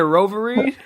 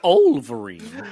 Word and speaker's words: Wolverine: Do I be saying Roverine? Yeah, you do, man. Hey, the W silent. The W silent. Wolverine. Wolverine.